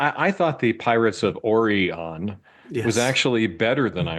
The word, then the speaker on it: Orion: Uh it so the thing we're we're we're joking about here is instead of saying Orion like normal people, uh they spend the whole episode saying Orion. Yes.